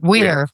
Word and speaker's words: Weir: How do you pronounce Andy? Weir.